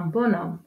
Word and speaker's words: bonhomme: D'un H, une silhouette, la sympathie, un bonhomme. Dans ces exemples, on ne prononce pas la lettre H.